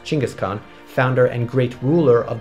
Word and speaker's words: Genghis Khan: In fact, Genghis Khan, actually pronounced Chinggis Khan, founder and great ruler